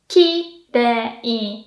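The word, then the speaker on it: 綺麗: Kirei na, low, high, low.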